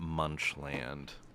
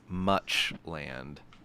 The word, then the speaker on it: Muchland: I hate to burst your bubble, but the article is not Munchland. No. It's Muchland. Much land. Okay, as in like a lot of land, right?